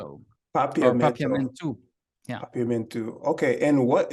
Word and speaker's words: Papiamento: Now, in general, my parents used to speak Papiamento to us.